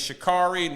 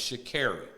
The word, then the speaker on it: Sha'Carri: We say her name is Sha'carri. No, it's Sha'carri. Mm-hmm. This is what she told them. That's what she told him. Yeah, she said, my name is Sha'carri. Sha'carri.